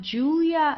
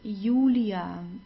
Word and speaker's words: Julia: lo and then we have the J which is pronounced like the English Y. So it's not Julia like in English. It's Ulia.